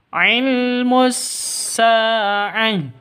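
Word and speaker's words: عِلْمُ السَّاعَةِ: Ilmus sa'ah. Sa panjang dua ketukan. Karena ada alif diawali dengan fat fathah. Alif sebelumnya itu fathah.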